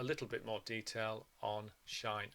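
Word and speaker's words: sinh: bit more detail on shine X just a quick word about pronunciation some people call this cinch X or sine H X I'm going to call it shine X throughout these videos so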